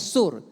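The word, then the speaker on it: סור: Dari bahasa aslinya itu sur atau soor, tulisannya soor, bacanya sur.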